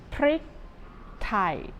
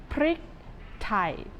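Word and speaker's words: พริกไทย: in Thai it is one word with two syllables okay here it is prick Thai I don't think you have any problem saying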